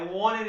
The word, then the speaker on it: wanted: Esse E, esse T se transforma num N. E eu tenho depois outro N aqui. I wanted it so bad. É assim, essa é a pronúncia americana.